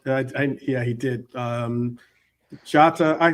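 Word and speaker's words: Jota: So, And and I saw Mark I yeah he did um Jata I call him Hata because that's J is pronounced H in Portuguese but um but Jata all the same.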